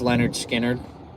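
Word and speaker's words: Lynyrd Skynyrd: Um, it's pronounced Leonard Skard.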